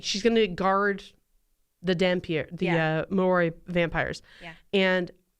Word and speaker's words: Dhampir: I'll help you with the pronunciations. There is the Dhampir, which Dhampir.